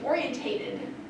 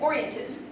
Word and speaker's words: oriented: into the right pronunciation I see this a lot too orientated I've been orientated to this particular job responsibility okay you just need to leave out the TA and oriented I hear people talking